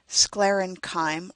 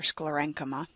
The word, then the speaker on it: sclerenchyma: sclerenchyme or sclerenchyma, water conducting cells that